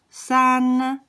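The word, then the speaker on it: 三: three three lines and this is pronounced san san should be start to be able to recognize the four accents so san is accent number one and this is number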